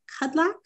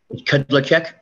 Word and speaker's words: Kudlacek: Before we get too far in depth, is it Kudlak? How do you say your name, sir? Kudlacek. Kudlacek.